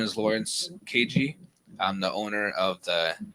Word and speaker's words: Qaji: So the way we pronounce it in Arabic Chaldean is Qaji. Qaji. Right? Yes. Yeah. And In English. the English, I say KG.